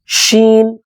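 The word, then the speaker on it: ش: சில எழுத்துக்கள் உச்சரிப்பு வராது எடுத்தவுடனே ஷீம் என்று சொல்ல சொன்னால் சில சகோதரர்கள் சில சகோதரிகள் சீன் என்று சொல்வார்கள் ஷீம் என்கிற எழுத்தையும் ஏறக்குறைய சீன் மாதிரிதான் சொல்வார்கள் அதற்கு இந்த உதாரணம் ஷ் இது எல்லோருக்கும் வரக்கூடிய உச்சரிப்பு தான் ஷ்ரிப்பு தான் அந்த ஷீனுடைய உச்சரிப்பு ஷீன் ஷீன் ஆரம்பத்தில் வந்தால் இப்படி எழுதப்படும்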